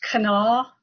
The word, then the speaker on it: Kanawha: It's actually pronounced Kanawha, but just about everybody who has not lived here or known that makes it Kanawha or Kanawha as you did.